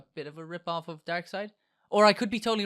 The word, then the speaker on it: Darkseid: makes it better to me it just not darksied but no it's it's but it's like dark